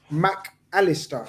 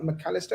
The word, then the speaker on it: Mac Allister: the profile of Alexis McAllister. Is that how you say his name? It's not McAllister, it's McAllister.